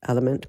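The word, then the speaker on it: LMNT: a dehydrated situation okay element l m NT spelled element pronounced is a brand of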